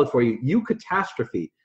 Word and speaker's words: eucatastrophe: And the word is, I'll spell it for you, eucatastrophe. It's E-U and then catastrophe.